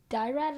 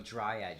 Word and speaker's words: Dryad: Maybe some Dyrad lookalikes. Dyrad? I forgot how to pronounce that. Dine. No. Dyrad. Oh, Dryad, you mean?